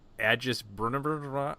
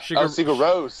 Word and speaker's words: Sigur Rós: Agis Brunner. I don't know how you say that. Agigis. You mean Sigur Rós? Sigur Rós.